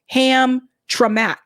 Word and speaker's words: Hamtramck: Hamtramck is pronounced Hamtramck.